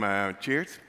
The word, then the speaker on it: Tjeerd: I am Tjeerd. That's how you pronounce it.